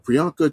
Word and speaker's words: Priyanka: which stars I don't want to get her name wrong a prianka Priyanka Chopra Jonas that's it and uh Richard Madden